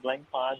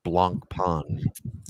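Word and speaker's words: Blancpain: operational they're operating did you guys know that blank pod is still an operating company okay we gotta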